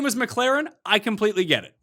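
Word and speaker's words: McLaurin: mclaren gibson mclaren yeah i'm glad you pronounced it mclaren because people call him f1 which makes absolutely it's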